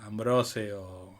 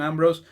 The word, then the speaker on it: Ambrose: ambrose que es tu me fijé cómo se pronunciaba porque yo siempre decía ambrosio distintas variables nunca la correcta y bueno como les